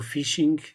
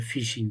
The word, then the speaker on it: phishing: eu irei produzindo este novo episódio sobre o Fishing é uma versão mais atualizada do tratamento desta